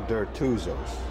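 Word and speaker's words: Dertouzos: junk right um let's start with uh you pronouncing your name for me again yeah uh deros okay derus diros diros and uh uh tell me your your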